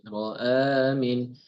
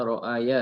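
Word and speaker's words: رأى من: Ro'amin. Ini hati-hati ya. Semuanya juga. Jangan dibaca ro'aya ya. Tapi ro'amin.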